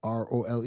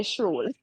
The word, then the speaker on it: Schrole: Schrole. Schorole. No, Schrole. Yeah. So Okay. some say Stroll. scroll, some say shrole.